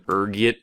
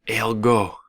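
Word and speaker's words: ergot: There's a few different ways you can pronounce it depending on your social standing, ranging from urgot to elgo. Being the disheveled puper I am, I prefer urgot.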